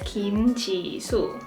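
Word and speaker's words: Jisoo: by the way so her first name is Kim Chi su and growing up I think I've seen a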